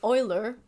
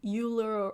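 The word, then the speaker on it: Euler: mispronounce his name like like Oiler everyone calls him uh like uler or other weird other or wheeler or other weird names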